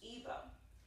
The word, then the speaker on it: Ibo: The first dance we're going to learn in this series is called Igbo, which is spelled I-B-O, and again pronounced Igbo.